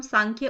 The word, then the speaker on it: Sankhya: हुआ है ठीक है इसको हम प्रोनाउंस सांख्य ही करेंगे कई जगह आपको एस